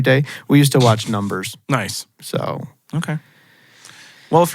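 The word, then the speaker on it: Numb3rs: He was in Numb Threers. He was in that show. What? Have you ever never watched Numb Threers? Numb Threers? Yeah. I think it's pronounced Numbers, But it's spelled like numb threeers.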